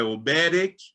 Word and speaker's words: Oberek: Oberek, a pronúncia é Oberek, de uma região da Polônia.